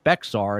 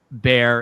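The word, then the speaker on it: Bexar: He's uh the former district attorney in Bear County, which I used to pronounce Beexar until we had Nico on the show, but it is spelled B X A R pronounced Bear.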